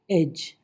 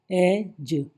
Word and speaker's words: edge: EDGE, एज, एज, डी गायब, किनारा।